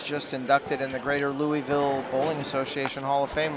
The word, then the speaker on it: Louisville: And if you're from there, it's pronounced Louisville. Louisville. I'm I'm getting that. Just like uh Nevada is actually Nevada.